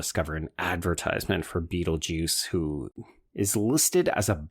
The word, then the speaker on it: Betelgeuse: we were calling him Beetlejuice when it's clearly Beetlegeist, but it literally is like that spelling of Beetlegeist. You do pronounce it Beetlejuice because you pronounce that star's name Beetlejuice.